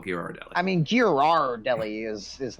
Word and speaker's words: Ghirardelli: the name is gear gear r Deli uh you do pronounce the r Ghirardelli in fact yes